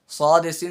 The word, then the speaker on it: ص: সদেসিন যা 13 নম্বর মাখরাজ। সদেসিন যা, এটা হলো জিব্বার মুখ থেকে। হ্যাঁ, সদ কিভাবে উচ্চারণ করবো? সদ কিসের হরফ? সদ হচ্ছে ইকফার হরফ, এবং সদ মোটা হরফ।